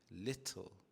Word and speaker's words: little: Notice how I pronounce the word little. I am emphasizing the T sound here as in little.